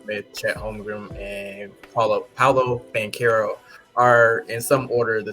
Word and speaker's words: Banchero: Banchero, yeah.